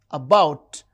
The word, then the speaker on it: about: Paper, paper, and about, about. The second syllable is stressed.